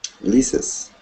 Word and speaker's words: Liz's: When you see Liz with an apostrophe S, how do you pronounce that? Liz's.